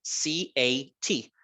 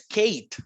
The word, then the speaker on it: cat: La palabra gato en inglés se escribe C-A-T, pero el sonido de esa A no es A, ¿verdad? No es Kate, ¿verdad? Es cat.